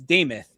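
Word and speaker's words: Demuth: Lisa, Lisa Deth deth, it's Damoth is how it's pronounced.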